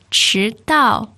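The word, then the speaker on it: 迟到: The important word, 迟到, second and fourth tone.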